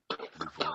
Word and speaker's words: Nouveau: And it was considered the New Legion, the Nouveau Legion. Now there was a good pronunciation, Sean. I feel like everyone should give him a slow clap. John, good. Nouveau Legion, good.